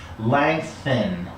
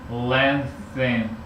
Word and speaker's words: lengthen: Now you're putting a G at the end. The reason you're putting a G at the end is that the back of your tongue is touching the back of the roof of your mouth.